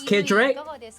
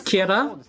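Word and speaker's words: Kjerag: are going to uh the english way that a lot of you like to pronounce it is kedrick but i think the proper way to pronounce it is kierra uh we're going to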